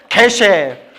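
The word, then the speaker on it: 게셰: 요새는 법이 바뀌었는지 모르겠는데 그걸 통과하신 분에게 불교 박사라는 칭호로 계쉐라고 이름을 줬는데. 뭐라고요? 계. 발음이 개셰.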